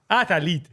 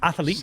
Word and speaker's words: athlete: always said Cinema and he's put an extra a in the middle of athlete he does do that I that you added there's another you've added it syllable aete athlete I had a little six-year-old learning the language for the first time aete slow Lear athlete just athlete athlete right six went